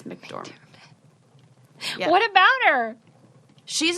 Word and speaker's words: McDormand: And I always call her McDermott, but that's not it. It's McDormand.